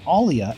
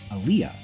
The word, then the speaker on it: Alia: I switched to saying Alia at that time, as previously I was pronouncing her name as Aaliyah.